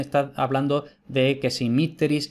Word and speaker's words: mitteris: Entonces, según eso, si la penúltima es breve, el acento se retrotrae a la sílaba anterior. Por eso, mitteris. En cambio, si la E, en este ejemplo, si la E es larga, el acento recae en esa sílaba, mitteris.